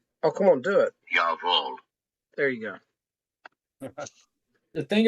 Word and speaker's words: Jawohl: And if you guys are wanting to know how it's pronounced, oh, come on, do it. Jawohl.